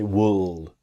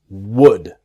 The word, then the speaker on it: would: be again repeating myself the L is silent it's easy to make the mistake to say wool because maybe you see the L and you want to pronounce the L it's silent it's wood wood okay so can